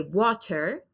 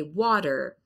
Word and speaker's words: water: For us, it's a very soft T, but it really sounds like a D. So I don't say water. I say water. That's kind of a D sound in the American pronunciation.